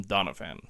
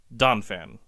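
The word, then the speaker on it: Donphan: admit and apologize that I've been mispronouncing Donan all through these episodes I have so often called him Donna fan I don't know why I've added that extra syllable in the middle there but it's just donfan so if I've have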